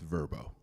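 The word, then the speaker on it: Vrbo: I have to say for our sponsor it's pronounced verbo our next award honors best in community engagement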